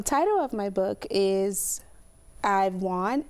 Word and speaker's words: I'vf Won: So the title of my book is I've Won. It's pronounced I've, like I-V-E.